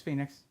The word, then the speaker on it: Phynix: use Firefox yeah yeah there's no way I can pronounce Phoenix and make it sound like Phoenix does not work for me it's Phoenix I've been pronouncing it that way the whole time they can spell it